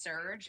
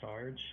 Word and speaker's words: Surge: I just realized it's surge as in like a surge and not like short for Sergio. Got it. I for some reason was thinking it was Sarge for some reason.